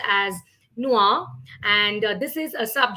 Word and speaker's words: noir: have for today right and uh noir that's pronounced as noir and this is a sub genre which is